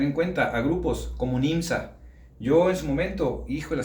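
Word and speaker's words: NJMZ: Bueno, Nimsa se escribe n eh Jés, a pesar de que se pronuncia Nimsa, perdón.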